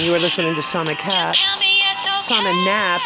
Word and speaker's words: Knapp: Again, you are listening to Shauna Knapp. Shauna Knapp. It's K-N-A-P-P. The K is silent.